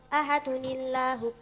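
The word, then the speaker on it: أَحَدٌ اللَّهُ: Tanwin jika bertemu hamzah wasol gak gak dibaca dibaca kasrah. Dibaca kasrah. Contohnya contohnya lah. L la la. Ahadun. Ahadun Allahu. Ahadunillahu. Ahadun Allahu. Jika wasal ahadunillahu terdapat di surat Al-Ikhlas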